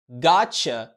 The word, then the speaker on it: gotcha: العربيه، يعني بتقول اوه، يعني المفروض تنطق got you بس هما مش بينطقوا كده، بيحولوه للشوا ويقولوا gotcha. وبكده جبنا الاختصار اللي انت بتسمعه كتير.